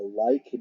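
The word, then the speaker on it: līc: It's pronounced like, L-I-K. The like dies, the body dies.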